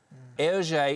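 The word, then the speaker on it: Hergé: said J H it's his initials a gr LJ is the French pronunciation of RG air okay he actually came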